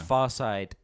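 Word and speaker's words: Pharcyde: So that's Farside, PHARCY. As if you DE. would pronounce or spell far or anything like that with an F. It's PH. It's PH all the way, baby.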